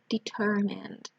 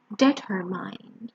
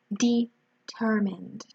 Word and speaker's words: determined: we have patient determined remember here the pronunciation is an e and then a dieter determined go sometimes I've heard the pronunciation dead her mind okay so it's determined we have dedicated trustworthy